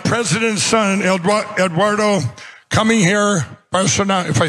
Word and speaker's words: Bolsonaro: We have the president's son, Eduardo, coming here, Bolsonaro, if I say it right, Bolsonaro.